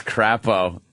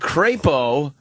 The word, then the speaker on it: Crapo: yeah Coons it is crapo it is crapo look at crapo it's they were like and crepo and Idaho crepo it's like no no it's crapo c AO is crapo